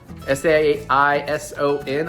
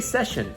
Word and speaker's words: Saison: S-A-I-S-O-N. I always want to say session. I've just now realized that it's Saison.